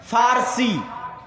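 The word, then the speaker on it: فرس: আর একদিকে পারস্য, পারস্য মানে ফার্সি, বাংলায় বলে প, কিন্তু ওটাই আরবিতে আছে ফার্সি, ফুরস। কেন আরবিতে পর কোনো উচ্চারণ নাই, আরবিতে পর কোনো উচ্চারণ নাই, সেটা আমরা পারস্য বলতেছি, ওটাই আরবিতে বলে ফুরস, ফার্সি।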